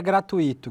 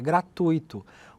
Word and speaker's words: gratuito: O Antônio Carlos Mantone mandou o seguinte: "William, não é gratuito que se pronuncia. A pronúncia correta é gratuito com a tonicidade no U e não no i.